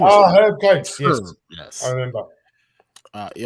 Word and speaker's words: Herb Coates: His name is Herb Coates. Yes, yes. I remember. He also make sure you pronounce the H. He's American.